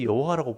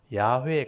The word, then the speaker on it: 야훼: 자음만 있는데 발음을 못 해가지고 신약에 아도나이라는 모음을 빼가지고 그 자음에다가 모음을 그러니까 아도나이 모음을 딱 붙이면 여호와가 돼요. 그래서 여호와라고 불렀을 뿐이지 실제 원 발음은 야훼에 가깝다. 그렇게 말씀드렸죠. 근데 우리가 너무 오랫동안 여호와라고 이렇게 영어로 번역할 때 영어에서 여호와라는 번역을 이렇게 했거든요. 그러니까 너무 오랫동안 우리가 영어 번역본을 가지고 들어 하나님을 적을 때 여호와라고 적어가지고 너무 오랫동안 그렇게 하다 보니까 야훼가 더 가까운 발음이라 해도 쉽게 못 바꾸는 거예요.